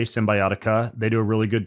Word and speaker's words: Cymbiotika: One's called Symbiotica. It's spelled with a K, Symbiotica.